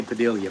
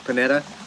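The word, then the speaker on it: Pineda: pronounce his name panetta i always say padilla but it's panetta arnelle panetta is proof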